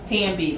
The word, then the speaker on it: Tambi: Tambi, like Bambi, but with the T.